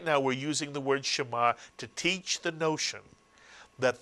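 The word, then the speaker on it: שְׁמַע: we're using the word Shema to teach the notion that the shva is never counted as a vowel, even when it's pronounced. Here you have a one-syllable word, Shema, to hear, listen, understand.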